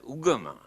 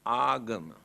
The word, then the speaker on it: agama: Here now they pronounce as ugama, but the original word is agama.